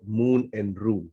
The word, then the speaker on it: Moon and Rune: So Mira, your business is called Moon and Rune. Did I pronounce it correctly?